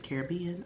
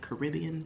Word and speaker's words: Caribbean: I know it's, guys can't see everything on it, but it says Pirates of the Caribbean or Caribbean, depending on how you want to pronounce it.